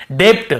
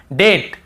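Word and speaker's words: debt: ब को नहीं पढ़ेंगे मान लो ये नहीं होता तो हम कैसे पढ़ते डेप्ट हम कैसे पढ़ते ऐसे पढ़ते हम डे आधा ब और ट डेप्ट ऐसे पढ़ते लेकिन क्योंकि हमें बी को नहीं पढ़ना है टी के पहले तो केवल डेट डेट फिर देखिए डाउट डाउट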